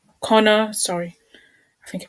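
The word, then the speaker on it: Conner: was inducted to the national film registry so corner connor sorry i think he pronounced the same wrong connor continued to produce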